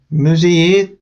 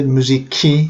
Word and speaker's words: müziği: We can't say müziki. It's really hard to say when you speak.